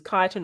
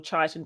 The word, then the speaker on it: chitin: So the cell wall of plants and fungi have the same function, but in fungi, chitin, it uses chitin or chitin, depending on however you want to pronounce it, and plants have cellulose.